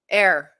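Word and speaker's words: heir: Air. Oh, that's right. It's like hair. The H is silent.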